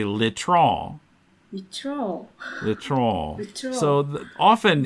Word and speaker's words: litron: The last letter in a French word is usually not pronounced, I think.